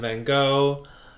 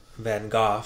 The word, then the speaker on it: Van Gogh: I mean, my God, he looks just like Van Gogh, apparently, is how it's pronounced.